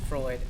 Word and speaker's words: Freud: um god the dude's name Freud I believe that's the how you pronounce it called the ID may also reject a transplant to consciousness.